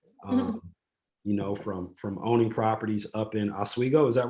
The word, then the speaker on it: Oswego: From owning properties up in Oswego, is that right? Yeah, good pronunciation.